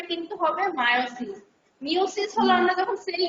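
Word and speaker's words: miosis: থাকবে অনেক সময় মায়োসিসকে ভুলে মানে আমিও বলি মিওসিস বলে ফেলি কিন্তু এটা উচ্চারণটা কিন্তু হবে মায়োসিস মিওসিস হলো আমরা যখন সেল ডিভিশনে পড়েছিলাম না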